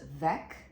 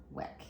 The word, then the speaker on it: Weck: It's actually pronounced Vec, but we say Weck here.